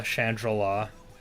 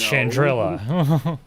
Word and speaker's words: Chandrila: raised he called chandrila chandrala like a shangri-la i was gonna say i get it but also no it's it's chandrila yeah like i get it